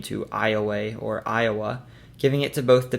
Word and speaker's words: Iowa: Other nearby Suin peoples referred to them as the Iowa or sleepy ones, a word French explorers and trappers pronounced Iway. Later English-speaking settlers anglicized the name to Iwaya or Iowa, giving it to both